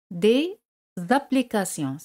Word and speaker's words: des applications: Pero al decir aplicaciones sin definirla, des aplications.